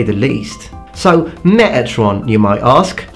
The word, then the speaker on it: Metatron: So, Metatron, you might ask. I'd appreciate the T pronounced there though.